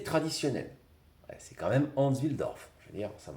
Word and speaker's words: Wilsdorf: pour le compte de Hans Wilsdorf, c'est pas évident à prononcer, mais il faut prononcer toutes les lettres, qui n'est autre que le créateur de Rolex, ça vous le saviez je pense.